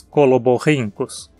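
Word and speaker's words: Coloborhynchus: E seguindo o mesmo padrão, temos coloborrincus.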